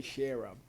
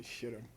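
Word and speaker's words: ཤེས་རབ: You don't say sherab. Okay, if you want to talk Tibetan really sweet, you say shiram.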